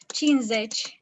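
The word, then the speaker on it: cincizeci: Yes, so we spell it cinci, but the way people actually pronounce it is cinzeci.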